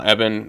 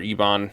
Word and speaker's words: Ebon: kids get captured meanwhile Evan uh or Ebon are how we pronounce it uh goes to Paris